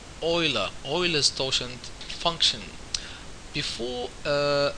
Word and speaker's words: Euler: Oilers doent function tutorial this is pronounced oila oiless tent function before